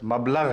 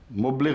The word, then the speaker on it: مبلغ: میں نے کہا حضرت حافظ صاحب، میں جانتا ہوں آپ بہت بڑے عالم ہیں، آپ کو علم ہے کہ عربی لفظ مبلغ ہے، مبلغ نہیں ہے.